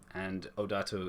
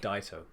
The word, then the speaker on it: Odaito: And Odato is one of the capitals there. Wilbur Sorry, will do a like. Odaito. That's how you say it.